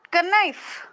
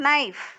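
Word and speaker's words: knife: தெரிஞ்ச வர்ட் த வர்ட் இது நாட் கைப் கே கே எஐ எைப் ஓ கைப் நோ ஜஸ்ட் நைப் கே சைலன்ட்டா இருக்கும் கே இருக்குது ஆனா நைப்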